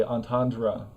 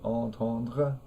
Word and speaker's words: entendre: So we have this whole third syllable of the word that's not there in French because we want to give the R sound its own syllable. And we don't use the French R sound, we use the English R sound. And we also don't really say a nasal vowel. We don't say on, like entendre.